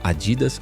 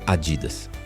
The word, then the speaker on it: Adidas: de onde você é pode pronunciar como Adidas ou Adidas já rud também planejava